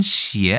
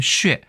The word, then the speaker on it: 血: 그럴 가능성은 매우 적죠 중국에서는 시의 아니면 슈에 둘 다 발음을 인정하고 있습니다 그 다음에 역시 타이완도 똑같고요 시에 아니면 슈에도 되고요 일본에서는 캐스 혹은 대부분 캐츠라고 얘기하고 캐치라는 좀 유외적인 발음도 있습니다 그리고 훈독으로는 혈에 해당하는